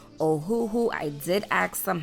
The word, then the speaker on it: Ohuhu: i had received it from a company called oh who who i did ask them how to pronounce it so i am saying it correctly